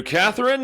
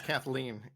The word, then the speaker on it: Kathleen: Thank you, Catherine. Once again, with that lovely... It's Kathleen. What? Is it Kathleen? Kathleen, yes.